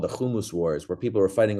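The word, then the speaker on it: hummus: so for people like heard okay so it's pronounced kumus okay got it there's a huge thing on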